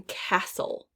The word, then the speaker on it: castle: we start sorting first the silent t as in castle castle we don't say castle that t is silent this could